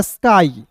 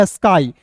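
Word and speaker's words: sky: अंतिम में वाई आया तो उसका उच्चारण आई के रूप में एस्काई।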